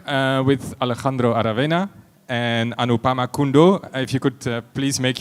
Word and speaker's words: Anupama Kundoo: Also currently here in Tana working on the Tana society towers um and Anupama Kundo I pronounced that right?